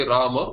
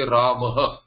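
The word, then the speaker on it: रामः: Like a pradipadikam cannot be pronounced. Rama, one should not say Rama, one should say Ramaha, unless one is saying He Rama, which is a sambodhana.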